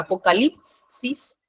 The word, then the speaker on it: apocalipsis: después en la palabra Apocalipsis en lip es donde se carga la voz en en en méritos